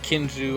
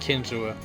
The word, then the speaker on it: Kinzua: I've heard it pronounced Kinsu. I've heard it pronounced Kinsua.